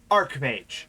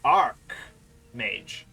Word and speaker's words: archmage: but he's higher than other wizards it's actually archmage not arch mage that it is an accepted pronunciation but it is not correct because arch pronouncing the h is referring to the physical structure arc mage or arc bishop refers to the position which